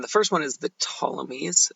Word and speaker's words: Ptolemies: first one is the ptolemies the P is silent so the Tommies they're